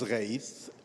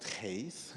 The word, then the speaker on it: Ghaith: My name is Ghaith, not Ghaith. It's Ghaith with unpronounceable letter.